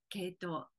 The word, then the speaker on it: 鶏頭: でいますが漢字では鶏の頭と書いて系統と読みますこの花の姿